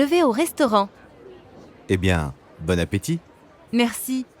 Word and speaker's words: Bon appétit: And notice that you don't pronounce the T at the end of appétit. Ti. Bon appétit.